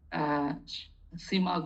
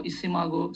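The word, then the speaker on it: SCImago: So then if you can go, Shimago pronunciation is some say Simago or Isimago.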